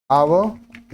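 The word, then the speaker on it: hour: in half ड आवर आवर starts with a silent H एंड अ वाल sound so article an इज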